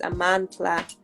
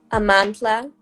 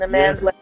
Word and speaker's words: Amandla: So technically the correct pronunciation of my name is Amandla. Yeah, but my mom kind of Americanized it.